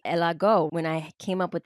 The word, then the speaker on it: Ella Go: started your company called Ejago. That's how you say it, right? Well, I love that you say it like that. Porque it's really Elago.